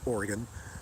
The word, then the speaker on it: Oregon: agenda though but no I live in Oregon pronounced Oregon I live in Oregon